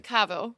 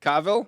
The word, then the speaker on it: Cavill: Cavo. Cavill.